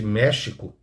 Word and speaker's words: México: A pronúncia de México se pronuncia México em espanhol.